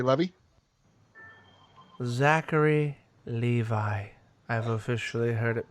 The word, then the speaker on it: Zachary: I love that actor, Zachary Levi. Zachary Levi. I've officially heard it pronounced.